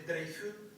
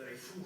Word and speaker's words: Dreyfus: A eso se les conoce en toda Europa, a partir de Francia, y el caso de Dreyfus, o Dreyfus, como tú quieras pronunciarlo, de Sobresolá, se les conoce como los intelectuales.